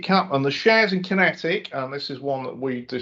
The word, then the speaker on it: QinetiQ: Kinetic, and this is spelt just so if you're looking it up as an investor, it's QINETIQ, and ticker is QQ. 2.2 billion market cap, and the shares in Kinetic, and this is one